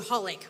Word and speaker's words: xxxHOLiC: The anime I'm recommending is called Holic, although it's spelled XXXHolic.